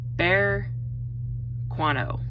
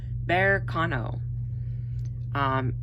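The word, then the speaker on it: Berkano: I'm going to see if, okay, hold on, pronounce this right. Bear Quano. There we go. It always takes me a minute. I have to break it down on the word itself. So Bear Quano.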